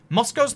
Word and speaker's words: Moscow: Moscow's the one Russian city I've ever been to. Americans say Moscow and it bugs me.